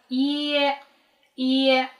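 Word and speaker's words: いいえ: Следующая фраза на японском языке — «ииэ», что означает «нет». В японском языке есть долгий звук «и», поэтому он пишется как «и-и-е», что по-японски означает «нет» .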